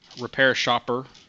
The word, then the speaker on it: RepairShopR: RepairShopR is how I pronounce it. A hard R at the end there.